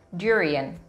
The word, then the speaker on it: durian: Yaitu durian, durian. Jadi seolah-olah ada emphasize atau ada penekanan pada suku kata pertama dan pada huruf D di situ.